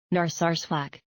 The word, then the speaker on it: Narsarsuaq: How do you pronounce that actually? Narsarsuaq.